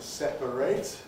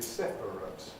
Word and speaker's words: separate: Verbs with ate in the spelling are pronounced with 8. Communicate, to separate, whereas adjectives are typically pronounced with ut, with a weak vowel. Some people have it, some people have ut, I have ut. So the adjective is basically separate.